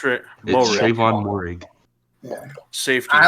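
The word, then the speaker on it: Moehrig: I don't know how to pronounce his name. Morig. It's Morig, Trayvon Morig.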